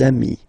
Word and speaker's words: amis: Okay, and if you make the liaison, so the link between the two, you will get des amis. Okay, des amis.